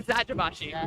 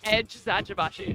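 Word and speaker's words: Eczacıbaşı: I've always been saying exagashi, but they told us it's edge zabashi.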